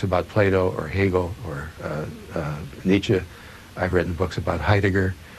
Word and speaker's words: Nietzsche: talking about so we can get the correct pronunciation from you foolish Nietzsche who was he Nietzsche was one of the